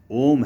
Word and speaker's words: ओम: जब हम बाहर सांस निकालते हैं तो ओ बोलते हैं, जब भीतर सांस लेते हैं तो म का उच्चारण होता है।